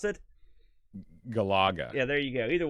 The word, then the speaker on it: Galaga: here there you go and then i can pronounce the other one gallagher now he played some galaxy oh no it's